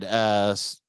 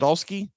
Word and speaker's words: Stahelski: The nominees are Takashi Yamazaki, Godzilla -1, Celine Song, Past Lives, Chad Stahelski. Is that how you say it? Or I think Stalski? Stilisky, I think it's Is it pronounced. Stilisky?